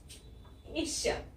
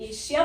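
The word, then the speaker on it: Asia: इस कॉन्टिनेंट को एशिया, इस कॉन्टिनेंट को कुछ लोग एशिया बोलते हैं यानी कि श बोलते हैं, और कुछ लोग एशिया बोलते हैं यानी कि वो ज बोलते हैं।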